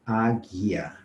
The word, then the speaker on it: águia: Tem alguma letra aí que eu não estou pronunciando? Tem o U, né? Águia. Eu pronuncio o A, o G, o I e o A e o U não aparece.